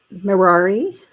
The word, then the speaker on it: Mirari: So she says her name, it rhymes with Ferrari, so it's Mirari, I think.